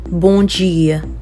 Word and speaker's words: bom dia: Bom dia. Bom dia. So in Portuguese, if M is ending a word, you don't pronounce the M. And then it'll turn out to be a bit nasal, okay?